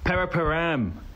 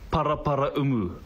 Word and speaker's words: Paraparaumu: Paraparam. It's pronounced Paraparaumu. I don't know where the hell Paraparam came from.